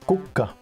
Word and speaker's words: kukka: So you can have a KK and then another consonant. I can't think of any word that has that. Yes, but I agree that for Sini just wrote kukka, and that means flower, and kuka with one K would be who?